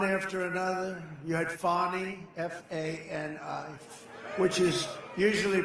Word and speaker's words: Fani: Because people can see, and they're smart, and we could sometime explain it, but one after another, you had Fani, F-A-N-I, which is usually pronounced Fanny.